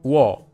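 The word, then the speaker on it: 워: It's pronounced wo, wo.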